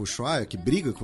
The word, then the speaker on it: Ushuaia: Ushuaia é a pronúncia.